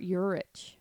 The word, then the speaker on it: Urich: eurich oh paul winslow what did i say ulrich how do you say it robert euridge robert eurich yeah he was born on